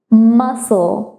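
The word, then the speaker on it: muscle: দেখি তাহলে এখানে কিন্তু প্রোনাউন্সিয়েশনটা হচ্ছে মাসো মাসো এখানে সিটা কিন্তু সাইলেন্ট হয়ে যাচ্ছে এখানে প্রোনাউন্সিয়েশনে ফোনেমিক সিম্বলে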